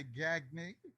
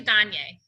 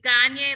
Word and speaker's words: Gagne: So So today we've got a special guest, Gagne. welcome. Thank you. Thank you so much for having me. It's actually Gagne. Gagne, I apologize. That's okay. I always say it's Gagne like Kanye, and that's how people